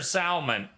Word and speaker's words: salmon: Is it pink or salmon?